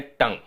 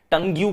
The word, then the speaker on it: tongue: BLUE को हम pronounce करते हैं ब्लू, GLUE को हम प्रोनाउंस करते हैं ग्लू, लेकिन TONGUE को हम प्रोनाउंस करते हैं टंग। बताना भाई, टंग्यू क्यों नहीं?